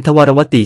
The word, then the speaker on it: ทวารวดี: เขียน ด้วย ตัว อักษร คำ ว่า ทวารวดี มา ให้ ดู ทำ ใน ใจ ลึก จะ ออก เสียง เป็น ทวารวติ ใช้ ต่อ เต่า นะ ครับ หลัก ฐาน ทาง